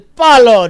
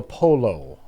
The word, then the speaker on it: Palo: El Palo Diablo. Usually we end up saying El Polo, but it's El Palo.